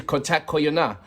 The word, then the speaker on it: কথা কইও: The pronunciation is Kotha Koiyo.